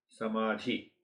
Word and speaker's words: samadhi: Samadhi. The last syllable is dhi.